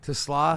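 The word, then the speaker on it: TeSlaa: and got the receiver, Tesla, how do you pronounce his name? Tesla.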